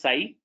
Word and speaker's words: psi: So psi x, this is pronounced as psi, this is phi, psi and phi.